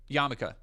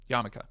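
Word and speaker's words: yarmulke: No, it's um Yarmaka. Yamaka, which is is very it's funny to see people in the chat typing Yamaka because it's spelled Yarmmoke. Y A R M U L ke. I believe I believe that's correct.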